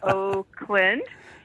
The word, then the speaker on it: Oakland: It was Oakland, and that was kind of nice. I think next year our shirts are going to have to spell it out that way, like Oak Land or something.